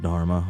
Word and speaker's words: Dharma: Oh, it is just Dharma, okay. First minute, I was, like, psyching myself out. Oh. So much Dharma.